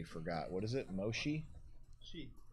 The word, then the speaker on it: Mochy: Chi. Chi. With a CH, just like it's spelled Mochy. I understand. There might be 1 or 2 words that are I mean, pronounced 16 either way. to 10. Mochi, noted.